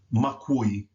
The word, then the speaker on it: makui: In this particular word, the K and the W must combine. Kui, makui, mak, like ku, i, makui.